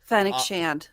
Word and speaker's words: Fennec Shand: Fennec Shand.